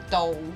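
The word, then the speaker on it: 倒: The word for upside down is "dou," but it also sounds like the word for like Here. here, yeah.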